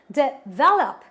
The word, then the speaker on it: develop: And this word requires that I stress on syllable number 2. So I pronounce it as develop, not develop, develop, develop.